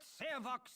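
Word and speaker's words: Sarevok: Let Sarvok speak!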